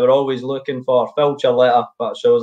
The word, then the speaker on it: Ciarletta: So Ciarletta, is that right?